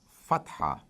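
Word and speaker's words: فتحة: show the equivalent of A, which is called fatha.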